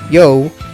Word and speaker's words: You: name as we know y-o-u is pronounced y-o which is yo which is what is